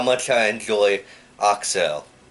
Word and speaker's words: Accel: much I and Julie Excel or people pronounce axel axel but it's actually excel so there is your